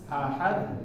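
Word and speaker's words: أحد: Bukan direm Pak, tapi ketika masuknya masuk huruf dal ahad, nah seperti ditekan ya. Digas sedikit lidahnya, tapi ketika masuk ya ha kedaknya ahad. Coba terakhir. Walam yakul lahu kufuwan ahad. Ahad. Jangan ahad. Digas tapi nggak boleh direm gitu. Iya. Nggak boleh dikasih. Nggak boleh direm. Begitu akhirnya jangan direm.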